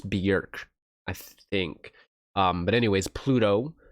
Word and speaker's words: Björk: I think they said the pronunciation isn't Bjork, it's Björk.